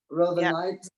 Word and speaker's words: rhodonite: Rhodonite is RHODONITE. Rhodonite, and sodalite is SODALITE.